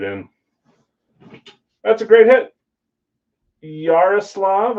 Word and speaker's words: Yaroslav: Yaroslav, I believe is how you say it.